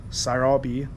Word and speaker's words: Sarabi: Sarabi. That's how they pronounce it.